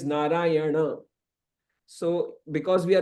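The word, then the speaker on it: Nārāyaṇa: else so Kish now naray it's not naray N means n but but actually it is narayana so because we are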